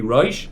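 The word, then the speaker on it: ראש: Now, the word rush does not mean head. That's rush. Rash means poor. It's usually spelled without an alf. Here it has an alf, but it's usually spelled without an alf. I don't know why. I mean, I suppose it's trying to hint to the word head, right? But as a head, it would be rush.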